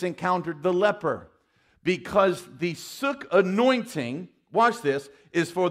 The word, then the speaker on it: suk: The Greek word is S-U-K. It is pronounced suk. Okay? This is not the suck anointing. This is the suk anointing.